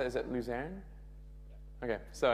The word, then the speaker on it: Luzern: Is it Luzern? Okay, so it's in Luzerne, and it's 2 days, totally free.